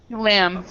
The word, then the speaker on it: lamb: Lamb, yeah, lamb. So we this B is silent, so we just say lamb.